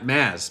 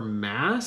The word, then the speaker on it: Maz: Maz Canada ma mazanada Canada mass Canada I'm so bad at pronouncing things you all probably know by now. Uh but mass not ma it's mass.